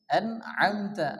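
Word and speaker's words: أنعمت: দিয়ে পড়তে হবে লাজিনাল্লাজিনা আন আমতা আন আম আইন মিনস আম এখানে কিন্তু আইন আসছে আমাদেরকে মনে রাখতে হবে আইন গুলো আমাদেরকে ভালোভাবে আয়ত্ত করতে হবে আইন গুলো ভালোভাবে আমাদেরকে উচ্চারণ করতে হবে আনআমতা আলাইহিম এখানে কিন্তু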